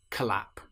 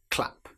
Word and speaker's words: clap: If we're using the word clap, we certainly don't want to say collap. It's clap.